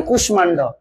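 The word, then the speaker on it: কুষ্মাণ্ড: আছে সেটা হচ্ছে কি কিছু কিছু শব্দ এমনিতেই হচ্ছে কিরে ম ফলা ম এর মতই থাকে যেমন কুশমান্ড কুশ মান্ড ঠিক আছে এক্ষেত্রে আমাদের অটোমেটিক ওই ম এর মত যায় তাহলে কি হবে কুশ মান্ড ঠিক আছে কুশ আচ্ছা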